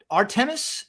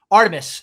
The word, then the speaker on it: Artemis: And obviously, the cost of it all is a consideration, but anyway, we're launching the artis I'm definitely mispronouncing that. Artemis, excuse me, Artemis program.